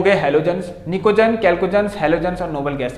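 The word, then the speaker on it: chalcogens: एक अलग नाम है, कैल्कोजेंस भी कहते हैं, ध्यान सुनना, कुछ स्पेलिंग होती है ऐसी, सी, हाँ, CHALCOGEN, कैल्कोजेंस भी कहते हैं इनको, ऑक्सीजन को, ठीक है।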